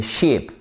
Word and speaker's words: sheep: Mais voyez là bien la différence de manière vraiment fait très pratique entre Shep et sheep.